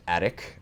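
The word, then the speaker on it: ATOCH: is attic c2s com it's ATO CH but it is pronounced attic I made sure to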